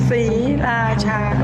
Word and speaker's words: Sriracha: 3 very distinct syllables. Sriracha.